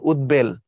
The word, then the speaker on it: উদ্বেল: এখানে হলো ডাবল এখানে উৎ এই উপসর্গের পরে যদি বফলা যুক্ত হয় বফলার উচ্চারণ বহাল থাকে যেমন উদ্বেল উদ্বেল মানে খুব চিন্তিত